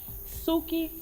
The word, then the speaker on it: Suki: Well, Suki rhymes with. What does Suki rhyme with? Soupy? Soupy? Soupy? Yeah. Coochie. Oh. Suki Coochie.